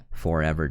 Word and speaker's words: ForeVR: you're looking at forever darts uh it's spelled for vr but it's pronounced forever and they made the